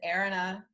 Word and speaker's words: Eranah: name you're absolutely welcome how do you say your name since I butchered it you told me in for whatever reason it always escapes me it's Erina Aaron I don't know why